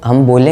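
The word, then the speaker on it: 十: तो अब, इन तीन कांजी अक्षरों को जापानी में कैसे कहें? इसके लिए, इसका उच्चारण यह है कि यह 10 कांजी है और हम इसे 'जू' कहते हैं, यह ओन्योमी है।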